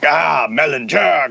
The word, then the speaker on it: Mellinger: And when he heard my last name, he was like, Mellinger, good name.